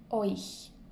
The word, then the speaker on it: euch: Un autre conseil pour retenir ou pour prononcer plutôt ce mot-là, qui est un peu difficile, imaginez-vous un O-I tréma, euch.